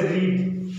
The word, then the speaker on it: read: जैसे रीड, रीड का third form क्या होता है, रीड का ईडी नहीं लगता है, रीड का READ रह जाता है, लेकिन उसका प्रोनाउंसिएशन अलग हो जाता है, रेड हो जाता है।